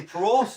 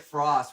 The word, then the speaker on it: Prost: Like, we're gonna get some Das boots, and we still to this day say Prost or we say it Frost. We said it wrong.